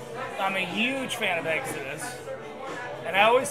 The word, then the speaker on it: Exodus: a huge fan of Exodus and I always say Exodus not Exodus only because Monty from Road Runner sent me an email and he go dude it's Exodus not Exodus like eggs at us and I wrote him